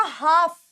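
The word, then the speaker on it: half: हमेशा साइलेंट होता है एल हमेशा साइलेंट होता है तो यह वर्ड क्या बना यह वर्ड बना हाफ यह वर्ड बना हाफ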